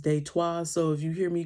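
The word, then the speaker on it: Détroit: Um, also I would like to say uh the name Detroit is really pronounced as Dayto.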